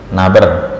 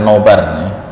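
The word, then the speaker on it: نبر: Alhamdulillah, malam hari ini kita bisa melanjutkan kajian tahsin kita, dan materi yang akan kita bahas masih melanjutkan tentang naber, bukan nobar, naber.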